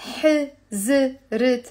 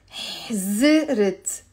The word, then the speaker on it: حزرت: It's not حزرت. It's حزرت. حزرت. Okay, it's two syllables.